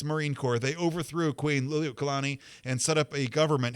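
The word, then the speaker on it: Liliʻuokalani: Kalakaua died in 1891, and his sister, Queen Liliuokalani, I think is how you say that name, Queen Liliuokalani, when she took power, she brought a Hawaii for Hawaiians attitude.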